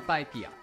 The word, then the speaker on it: PyPI: dashboard in order to get valuable insight from PyPIA. And yes, that's how it is pronounced.